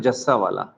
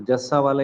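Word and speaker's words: Jussawalla: आदिल जूसा वाला। वैसे इनका हिंदी में प्रोनाउंसिएशन आ रहा है जस्सा वाला, तो जस्सा वाला ही बोलेंगे हम, आदिल जस्सा वाला।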